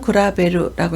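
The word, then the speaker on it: 比べる: 훈독으로 읽을 때는 구라베루라고 읽어서 비교하다, 견주다 라는 뜻을 나타냅니다. 세 번째 한자는 안일비입니다. 비상이라고 읽을 때는 히조라고 하죠.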